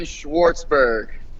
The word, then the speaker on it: Schwartzberg: pronounce your last name so can you please pronounce it for the people I'm Schwartzberg all right cool cool so you're an amateur